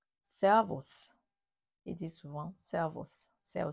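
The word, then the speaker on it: Servus: région bavaroise et en en Autriche c'est aussi servos servos il dit souvent serv c'est ça aussi c'est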